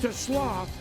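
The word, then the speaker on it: TeSlaa: It spelled like Tesla, but it's TLO.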